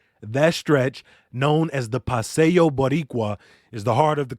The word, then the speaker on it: Paseo Boricua: beautiful well done uh paseo boricua it's pronounced paseo yes or the puerto rican